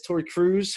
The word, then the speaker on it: Tori Kruse: And I'm excited to have a friend of mine, Miss Tori Kruse, who's actually, did I pronounce that right?